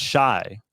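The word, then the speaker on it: Shai: Yo, I just feel bad for it's Shy. I always thought it was Shay for some reason. So it's Shy Gilgeous-Alexander. I know a Shy, so it might be Shay.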